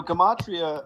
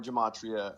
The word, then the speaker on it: gematria: So gematria or gematria, depending on however you want to pronounce it, is the practice, the very old practice of assigning an alphabet with a numerical value.